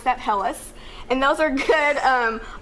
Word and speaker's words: helles: a helles h-e-l-l-e-s um so that's how you pronounce that hellas and those are good um options to get